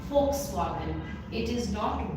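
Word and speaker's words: Volkswagen: foxwagen 10 आउट इट्स अ car brand and इसको हम लोग प्रोनाउंस करते हैं फ से fxwagन इट इज़ नॉट volw एंड now that कि आप लोग जर्मन लैंग्वेज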